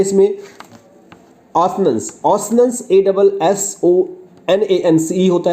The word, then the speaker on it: assonance: एक होता है इसमें ऑसनेंस, ऑसनेंस ASSONANCE होता है। एजोनेंस नहीं, ऑसनेंस, एजोनेंस भी कहते हैं लोग, लेकिन ऑसनेंस इसका करेक्ट प्रोनाउंसिएशन है।